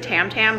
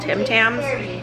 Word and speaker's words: Tim Tams: got from trader joe's i said it wrong previously i said tam tams they're called tim tams the australian like cookie